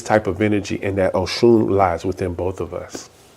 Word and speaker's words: Oshun: Is the way we say it in Yoruba is the O is a lower sound than the rest of the word. Oshun, Oshun, okay?